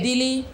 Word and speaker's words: Dili: timor silo tilly okay dilly is definitely correct yeah we are looking at the island timor western part is part of indonesia the eastern part the capital is dili spelt with a d